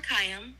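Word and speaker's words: Khayyam: is Omar C it's last name robot lady is spelled k h a y y a m Omar kayam was a Persian poet mathematician and astronomer from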